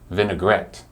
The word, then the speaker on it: vinaigrette: are you ready to hear what it is vinaigrette vinaigrette Vin Gret my French is not very